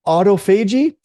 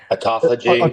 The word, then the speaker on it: autophagy: it's called I don't even know how to pronounce it but it's autophagy autophagy autophagy thank you Tren y I knew I was